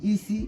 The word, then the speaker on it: isi: For instance, a a k a aka hand e e e w e ewe that's gone i i c i isi that's head.